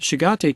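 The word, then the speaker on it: Chagatai: The Shigate Khans, hey, I pronounced it correctly, ruled Central Asia until the 1370s.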